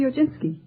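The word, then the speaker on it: Piechocinski: Uh, uh how do you pronounce your name? The Ojinski.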